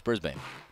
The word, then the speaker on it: Brisbane: You said it wrong. It's Brisbane.